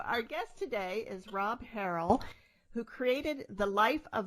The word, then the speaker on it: Harrell: Is that how you Harrell, pronounce it?